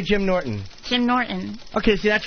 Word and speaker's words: Norton: Jim Norton. Okay, see, that's right. You have like the sound in Norton. You don't hard the T.